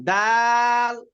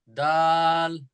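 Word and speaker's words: د: এরপরে হ্যাঁ, ডাল। দাল। এই রাল, রালটা ওই উপরে যে সাড়া বলছিলাম যেরকম, জি। জি। রিদবাটা কি হবে আপনার, এই উপরে দুইটা দাঁতের সঙ্গে লাগবে এইরকম ভাবে, রাল। দাল।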